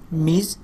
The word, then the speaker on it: Ms: লেট me introduce you টু আওয়ার new colleague মানে হচ্ছে সহপাঠী, নতুন টিচার যে মিজ MS, এটাকে উচ্চারণ করতে মিজ আনা স্মিথ একজন মহিলা।